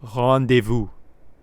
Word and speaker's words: rendezvous: you that aren't french you got to get this pronunciation right so get this in your vocabulary ready it's called rendezvous rendezvous if you're french you're